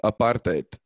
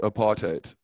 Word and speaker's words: apartheid: tend to go with apartheid so it's a part and then yeah the rest of the world because that's that it's an afrikaans word that's why it's um